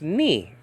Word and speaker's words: Nu: n in Greek nowadays in modern Greek is pronounced knee like I I hit my knee okay so this is the n in Greek called Nu in biblical Greek and